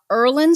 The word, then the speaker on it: Irlen: and i know that you know something about erlen syndrome am i pronouncing it right yup yup that's right um